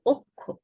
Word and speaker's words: অক্ষ: ক্ষীয় থাকার কারণে আমরা অ এর উচ্চারণটা ও এর মতো করে বলবো অক্ষ।